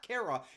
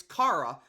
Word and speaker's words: Cara: It's not Kara, it's Cara. Anybody out there that wants to talk about her, and you will after this game, that's how you pronounce it.